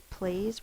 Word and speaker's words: please: this word means it's please we do a silent E silent E goes in the same box as the S because it does not make its own sound we need the silent